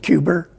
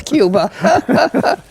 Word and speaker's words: Cuba: can hear the accent how does he pronounce Cuba is it cuber no no as a matter of fact he doesn't it's Cuba depends where you're from in